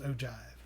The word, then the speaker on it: ogive: it's called an ogive it looks like oh guys but it's pronounced ogive so that's basically the